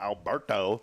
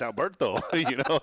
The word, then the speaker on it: Alberto: He's like, "It's not Alberto." He's like, "It's Alberto."